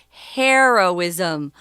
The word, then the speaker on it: heroism: to save someone's life when you change from hero to heroism notice the vowel changes as well so hero heroism similar to you know